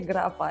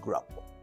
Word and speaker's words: Grapa: You can say Grapa. It's perfectly also fine. I like it Grapa, as you told me. Thank you. I'm going into Romanian way. Grapa.